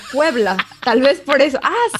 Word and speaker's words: Puebla: pueblo no ha escuchado cómo se dice puebla con acento y de hecho muchas veces así como que me suena y yo no no te suena pueblo no puebla tal vez por eso